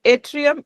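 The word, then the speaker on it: yttrium: So that atrium is Y is silent. So you can just trium aluminium garnet is the name of that laser.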